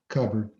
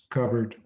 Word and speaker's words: cupboard: to make a pie cupboard you ever look at that word covered and wonder why we pronounce it as covered shouldn't it be cupboard josh ever at the